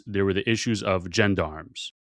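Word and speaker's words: gendarmes: Is that how you say it? Jendarms. Jandarm. I thought it was Jean Darmms. Jean Darmm is the better word. I've been saying it wrongs for so long.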